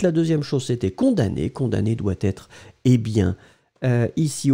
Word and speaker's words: condamné: Condamné doit être, eh bien, ici au masculin, puisque c'est connecté à père.